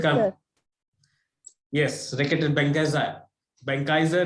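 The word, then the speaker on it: Benckiser: Benkaiser is the right pronunciation.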